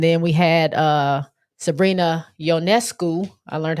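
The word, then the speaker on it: Ionescu: the field and then we had uh Sabrina yonescu I learned how to say her name correctly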